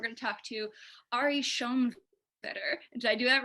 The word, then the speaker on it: Schoenwetter: be like a sequence of me pronouncing your name wrong all right ari yeah yes it took a couple times